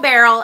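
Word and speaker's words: Beyerl: I'm gonna do this it's Paul barrel and it's spelled funny though it's be e ye AR L and I actually have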